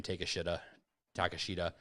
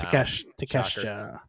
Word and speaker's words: Takeshita: So, also, I can't pronounce his name. Takashita. He wins a match too. Wow. Takeshita.